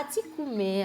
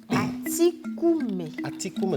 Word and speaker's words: Atikoumé: On va partir à Atikoumé à présent.